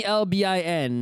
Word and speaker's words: Melbourne: Imagine it's Melbourne. MELBIN. Melbourne. Melbourne. Forget that R. Forget the OU.